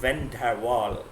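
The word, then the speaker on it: van der Waals: तो WAAL वॉल है, इसकी स्पेलिंग में वाल है, वॉल नहीं है, ठीक है, वाल नॉट वॉल, सी my lips, ठीक है ना, तो उस तरीके से मैं प्रोनाउंस कर रहा हूँ, वैन डर वाल, ठीक है।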